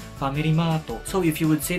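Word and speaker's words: ファミリーマート: For Starbucks, they would say Staba or Starbucks, Family Mart, Family Mato.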